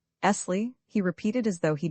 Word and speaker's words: Esley: "My name," he said, "is Esley." He pronounced the word, lingering upon the double SS till it sounded like a long hiss. "Esley," he repeated as though he derived some satisfaction from the repetition.